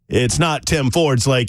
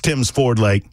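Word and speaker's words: Tims Ford Lake: It's not Tim Ford's Lake, it's Tim's Ford Lake. Hey, pal, you're saying it wrong."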